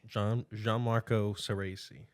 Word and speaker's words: Gianmarco Soreisi: Gianmarco Soreisi.